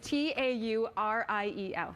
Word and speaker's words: Tauriel: I spell it. forget. The movie was so I'm gonna spell exciting. it for you. It's Tauriel.